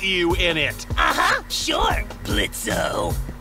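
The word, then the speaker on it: Blitzø: Sure, Blitzo. The O is silent now, bitch.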